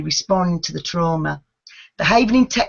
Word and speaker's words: havening: And am I mispronouncing it? What is havening technique? Am I saying that correctly? Yes, that's correct. It's havening technique.